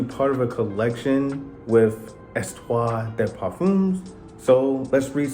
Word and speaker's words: Histoires: So the H in histo or you know the histories of perfumes uh is silent, right? So, it's Estto Estto the Puff.